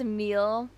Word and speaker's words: Emil: It's pronounced Emil, despite the lack of an E at the end.